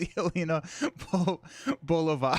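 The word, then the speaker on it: Yelena Belova: Winning hand is pronounced Yelena Bolova.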